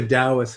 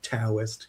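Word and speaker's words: Daoist: There's this uh I think the Dowists have an expression. It's pronounced dowist, not toist.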